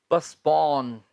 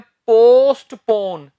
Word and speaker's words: postpone: बहुत से स्टूडेंट्स इसे बोल देते हैं पोस्टपोन, गलत है वो। इसका सही प्रोनाउंसिएशन होता है पस्पॉन। मतलब टी, ये जो टी है इसमें टी को आपने नहीं बोलना, पस्पॉन। ठीक है? पोस्टपोन नहीं, पस्पॉन। अब ये हमारे पास वर्ब